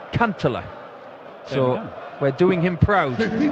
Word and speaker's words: Kantele: in Vienna last year it's not Cantelli it's can't Allah so we're doing him